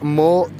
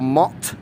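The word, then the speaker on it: motte: um as a wooden mort or mott and bailey which again is just like a basically a form of defense and it's like a mort which it's spelt m or double t e that might spell more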